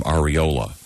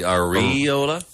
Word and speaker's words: areola: This guy says it should be pronounced with the emphasis on the E instead of the O. The areola? Areola.